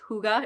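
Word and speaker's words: hygge: It looks like hygiene, but it's huga. It's pronounced huga, right?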